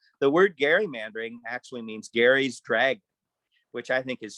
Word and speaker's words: Gerry: appears to be that former vice president eldridge gary did pronounce his name that way and he drew